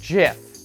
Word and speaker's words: GIF: There's no J in GIF. There's no reason to pronounce it like that.